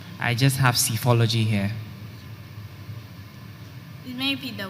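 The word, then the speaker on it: psephology: and it means the scientific study of election cyphology these are there any alternate pronunciations i just have cyphology here it may be the word cyphology cyphology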